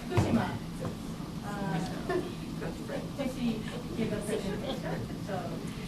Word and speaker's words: Fukushima: So it's and there is a pitch fall after fu. Fukushima. Fukushima.